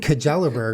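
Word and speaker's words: Kjellberg: about it pretty sure it's shellberg anyways yeah anyway it's just spelled with a k and a j yeah no it's it's yeah it's a foreign last name so it's difficult for us to pronounce Swedish right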